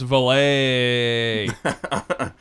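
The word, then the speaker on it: Vallée: how you said Val it's got two e at the end so yeah but it's got that little thing okay I don't know didn't you didn't you take French no I believe it's pronounced valet so jacqu Dr jacqu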